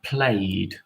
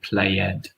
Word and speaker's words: played: on the basketball team the e after play is silent we just we we get rid of the e in the e d regular ending so it's I played not I play it we would also have